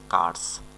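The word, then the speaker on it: curse: কারস মানে অভিশাপ দেওয়া কুর্ডস না কিন্তু কারস কারস মানে অভিশাপ দেওয়া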